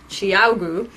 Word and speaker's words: ChiaoGoo: of all to see how to pronounce this properly it's Tiago and that actually means